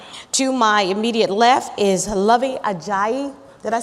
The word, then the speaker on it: Luvvie Ajayi: To my immediate left is Luvvie Ajayi.